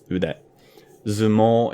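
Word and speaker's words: 腕相撲: The first one I want to talk about is udezumo. And it's made up of 2 main words. Ude, which you might already probably know is arm. Ude. Zumo is the rendaku version of sumo, so for sumo wrestling.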